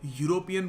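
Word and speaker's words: European: Case नहीं है, क्योंकि आप जब यूरोपियन बोलते हो तो आपका जो प्रोनाउंसिएशन का तरीका होता है वो वाई से शुरू होता है। यूरोपियन, आप यूरोपियन नहीं कहते, समझ रहे हैं ना आप? तो सिंस आप यूरोपियन कहते हैं वाई से, और वाई एक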